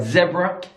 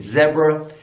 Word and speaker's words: zebra: difference already and then when you've got the word zebra in British English in zebra American English zebra zebra zebra zebra alright there are